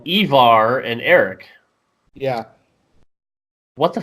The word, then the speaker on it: Ivar: Yeah, I think it's Ivar. Okay, so... It's like Ivan, just with an R.